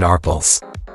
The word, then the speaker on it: Arpels: Arpels sounds like Ar-pel.